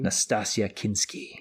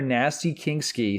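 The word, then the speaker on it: Nastassja Kinski: embarrass you no honestly my father has been saying her name wrong since the 80s he's been calling her nasty kingy since 1983 okay and I know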